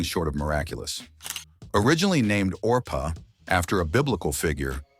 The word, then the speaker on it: Orpah: of miraculous originally named orpa after a Biblical figure her name was frequently mispronounced as Oprah until that version stuck becoming the iconic name